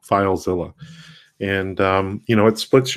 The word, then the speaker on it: FileZilla: free application called filezilla which is spelled like godzilla but instead of god it's file filezilla and you know it